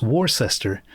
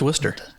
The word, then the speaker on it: Worcester: never been to and it's probably not even pronounced wer it's probably pronounced war sester no it's Worcester oh is it I've